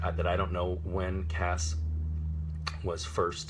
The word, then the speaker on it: Cass: pronunciation, they spelled it C-A-S-S, which is hard C followed by the vowel and consonant cluster that makes the sound ass.